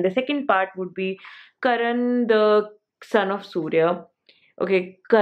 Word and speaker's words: Karna: son of surya okay i have been trying to say it like like the proper hindi word but you know it's like so much punjabi in me is there that i can't just say it properly so this was a